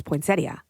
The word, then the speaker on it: poinsettia: you that is apparently the correct way to say it is poinsettia it yeah if you're being proper if you're being proper and you slow it down and you poinsettia it sounds more like it should be like a